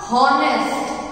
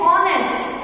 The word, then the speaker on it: honest: To tell वन thing, it इज नॉट हॉनेस्ट, एच नहीं pronounce करना है, इट इज ऑनेस्ट, एच is silence. Okay, H is silent, it is known, it is like pronounce as ऑनेस्ट.